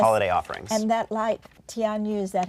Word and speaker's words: Tianyu: And that light, Tianyu, is that how you pronounce it? Tianyu, yes.